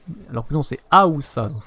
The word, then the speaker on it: Haoussa: l'impression que je disais Oussa. Alors que non, c'est Haoussa. Donc, il faut bien prononcer le A.